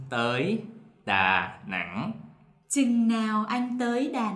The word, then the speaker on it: Nẵng: And for this tone, the waving tone, they pronounce like this, Nẵng. nặng. For the south, it's the same as nặng.